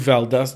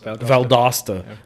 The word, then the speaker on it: Valdosta: they were gonna move Valdez did I say it right cuz last Valdosta sorry he's from Macon or